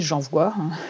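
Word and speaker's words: JanVoix: le défi j'envoie donc j'envoie ça s'écrit J a n V o i x donc je comme le début de janvier et voit comme étendre ta voix influente par le podcast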